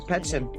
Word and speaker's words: Petschen: Petschen. Did I pronounce that right? Absolutely. Yes. Very good. Petschen.